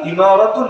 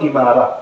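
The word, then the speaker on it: إمارة: খেলাফা দেয় নাই নাম দিয়েছে কি ইমারা আল ইমারাতুল ইসলামিয়া একইভাবে ওই যে আরব আমিরাত নাম শোনেন নাই শোনেন নাইট ইউনাইটেড আরব এমিরাত ওই এমিরাত যেটা আমিরাত যেটা ওইটারই আরবি উচ্চারণ হলো ইমারা মূল উচ্চারণ ইমারা তো ইমারা মানে এখানে বুঝায়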